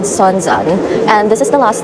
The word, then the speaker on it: Sounzan: Guys, I was definitely mispronouncing this station. It's called Sounzan and this is the last stop before you